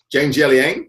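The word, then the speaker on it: Jiang Jialiang: Zhang Jialing, yep, Zhang Jialing.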